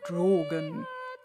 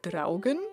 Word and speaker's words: Draugen: welcome adventurous to drogen or rather dragon as it is most probably pronounced since the game was developed by the Norwegian Studio Reddit thread games according